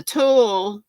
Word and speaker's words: tulle: olivia mama swift says the tool that's how you say it is for a tutu